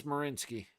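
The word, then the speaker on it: Merzļikins: it's spelled marinsky but apparently it's marinski there you go look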